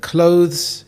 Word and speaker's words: clothes: If you said clothes, you got it correct. A common mistake is to say clothes. However, we combine the sound at the end to say clothes. There is only one syllable, not two.